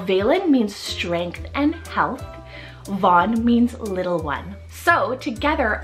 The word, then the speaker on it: Vaughn: here Valen and Vaughn so v-a-l-e-n Valen and Von v-a-u-g-h-n now Valen means strength and health Von means little one so together I find that